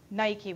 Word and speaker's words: Nike: the wing and goddess Nike we would say I wouldn't say that personally in Greek pronunciation but that's how we